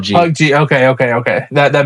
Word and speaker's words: PUBG: It's PUB It's PUBG. It's PUBG. PUBG.